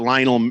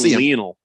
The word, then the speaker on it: Lionel: He is from Argentina, and it's pronounced Lionel.